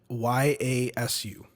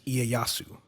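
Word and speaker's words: Ieyasu: start with an i it's i e y a s u I can't and the way that I've always heard that name pronounced is iayasu and they were pronouncing it like yasu probably just saying it was like or no they're like iasu or something like that it was so [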